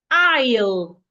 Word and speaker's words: aisle: Isle. A I S L E is pronounced isle.